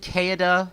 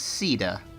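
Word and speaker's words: Caeda: previous episodes I've referred to this character as kada and that's how I've always assumed her name was pronounced since I played Shadow Dragon on the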